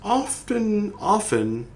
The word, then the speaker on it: often: He was like a brother to you, and it was often, his fate often, not often, often. That's how it's pronounced. They put a T in there because some idiot in the 1800s, never mind, this isn't about that.